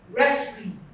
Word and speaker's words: referee: Referee. Re is stressed.